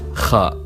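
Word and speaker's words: خ: Now we have kha, written like jim and ta, but this time with the point written on top. And we pronounce it kh, like also in Spanish how they say julio or james.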